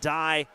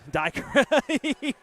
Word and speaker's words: Diker: Wilkinson and Allen versus Kraus and Dye. Actually got corrected. Diker, he came in here and let us know that we were pronouncing his name wrong.